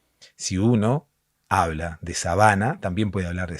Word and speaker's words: sabana: no es sábana, es sabana. Bueno, depende de dónde le pongas el acento, ¿no? Depende de dónde pongas el tilde, depende cuál sea la sílaba tónica. Si uno habla de sabana, también puede hablar de sábana, ¿no?